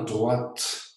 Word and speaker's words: droite: Et je lis avec vous la main droite. On prononce bien le T et vous savez pourquoi.